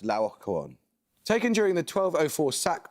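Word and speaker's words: Laocoön: Yes, usually pronounced Laocoon.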